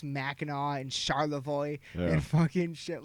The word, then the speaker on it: Charlevoix: We got our own, like, we know how to pronounce Mackinac and Charlevoix and fucking shit like that. Charlevoix has an X in it, for anyone who doesn't know.